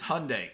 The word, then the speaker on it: Hyundai: It's Hyundai because it rhymes with Sunday.